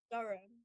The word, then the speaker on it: Durham: All three of them, all Pip, Jason, and Georgia gone to Durham University, You said which it is like wrong. Durham. Sorry. How do you say it? Durham.